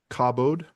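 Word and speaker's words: כָּבוֹד: gaming keyboard so click click click yeah it's pronounced cobod cabode glory honor Splendor and exactly denotes primary concept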